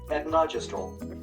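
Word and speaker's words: etonogestrel: The pronunciation of this word sounds like etnogestrel.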